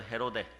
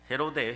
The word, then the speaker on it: 헤로데: 그러나 헤로드, 원래는 헤롯이라고 하는데 이름이 따라해봐, 헤로데. 원래 그 발음을 좀 정확하게 해보면은 헤로데예요, 헤로데.